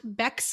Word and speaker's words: Bex: So on Twitter, I myself am at Bex. I tell people who are above the age of 18 that Bex rhymes with sex.